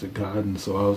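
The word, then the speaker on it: Gaiden: getting uh Ninja giden or I always said gayen I always called it Ninja gayen but until a couple years ago I started watching videos talking about the uh original NES game and everybody always pronounced it Goen so I was like well well I guess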